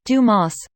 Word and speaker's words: Dumas: his goggles up again it's pronounced Dumas The Count of Monte Cristo by Alexandre dumbass yes ha ha I'm